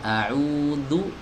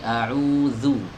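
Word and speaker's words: أعوذ: Jadi, bukan audu. Audu itu mirip seperti huruf dal gitu. Enggak, bukan huruf dal, tapi mirip ya. Bukan huruf dal, bukan berubah jadi huruf dal, bukan. Tapi mirip seperti pelafalan huruf dal, ya. Jadi janganu, tapi auzu.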